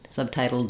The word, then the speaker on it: subtitled: How we say that final D will depend on what comes after it. So again, if I say subtitled in English, I'm going to let that D out as I link to a vowel, or a subtitled film, I'm going to use an unreleased D there as well. So the end of the word depends on what comes next.